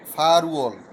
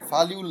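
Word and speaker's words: 팔월: আটকে বলে ফাল, আর মাস গণনার একক হচ্ছে উয়ল। ওই একই কথা উচ্চারণে গিয়ে হয়ে যাবে ফা রুয়ল। ফাল উয়ল হবে না, ফা রুয়ল হয়ে যাবে।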